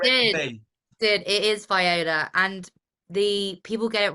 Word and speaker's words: Viola: It is Viola, and the people get it wrong here.